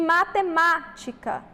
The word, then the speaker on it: matemática: é a antepenúltima beleza e matemática também aqui nós temos a sílaba tônica a antepenúltima portanto também é uma